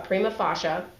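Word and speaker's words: prima facie: must make out a prima fasha again that's Latin um there's a lot of Latin in the law um it's it's pronounced Prima fasha case showing one membership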